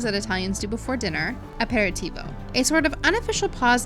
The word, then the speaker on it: aperitivo: We're trying to understand how aperitivo, how is it pronounced aperitivo?